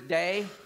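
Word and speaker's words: δεῖ: Greek the word is day it it it it sounds like day d a y is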